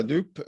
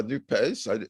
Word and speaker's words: NUPES: has created, which is called by some La Nupe and by others La Nupes. I don't think the pronunciation has yet been settled on, partly because the pronunciation Nupe lends itself to the idea of marché de dupes, a bargain of fools, which it may well be.